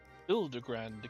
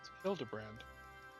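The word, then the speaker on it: Hildibrand: Since parting ways, I've searched every alley and dive bar in Everkeep for signs of this Hildegrand character. It's pronounced Hildebrand.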